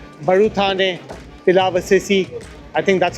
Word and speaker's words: Baruthane Pilavcisi: Baruthane Pilavcisi.